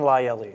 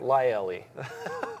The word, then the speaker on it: Laielli: How do you say your last name? Lyelli. Lyelli. You got it.